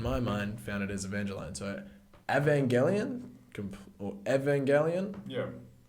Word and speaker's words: Evangelion: How do you pronounce it? Neon Genesis Evangelion. Evangelion? Okay, A- I've been calling it Evangelion. Yes. It's Evangelion. Evangeline!